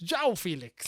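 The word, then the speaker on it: João Félix: so of course it's ciao Felix because in Portuguese in Portugal in Portuguese they pronounce the J so it's Zhao Felix okay well Jal Felix looks like he's on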